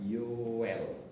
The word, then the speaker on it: Yoel: Sekarang tolong membuka kitab Yoel. Bacanya Yoel ya. Itu bukan ejaan lama.